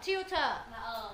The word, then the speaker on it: tutor: gạch chữ o đâ mà ờ t là u Đúng không các bạn phải đọc là u thì mới ra tiu được tiu ok chưa tiếp theo